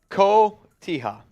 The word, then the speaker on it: Cotija: So El Raider, Mitch, it's pronounced Cotija. Cotilla.